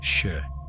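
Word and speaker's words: 四: In Japanese, the number 4 is pronounced shi, which also means death.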